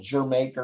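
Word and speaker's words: D'yer Mak'er: it both ways some some people say it's called jer maker because it's after jamaica but i heard dire maker and all the dj's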